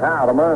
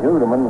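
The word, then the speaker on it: Houtteman: one day actually after how do you like your name pronounce it he said howden i said why i said i understand everybody calls you hudeman and if you like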